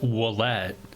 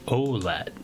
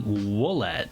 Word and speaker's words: Ouellet: That's why because even though my name is pronounced Willette, it looks very much like Olette. So a lot of people always kind of call me Olette. And it's really Ouellet. That's how you pronounce it anyway.